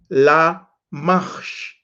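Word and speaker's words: למך: There is something else that helps you to pronounce them. Then Genesis 5:26 is Lamach. Lamash.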